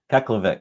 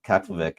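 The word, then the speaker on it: Keflavík: But for an international flight, you're going to fly into a different airport, and that is, can you pronounce it? Is it Keflavik. Keflavik? Keflavik.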